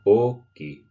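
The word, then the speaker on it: Oki: A fun thing you can do with the word for hello, okay, is the longer you've known someone, the longer you can stretch out that O at the beginning of the word.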